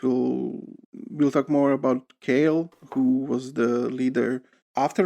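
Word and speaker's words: Koehl: by the way that guy's name he's matt kale or matthias kale his name is spelled k o h i pronounce it kale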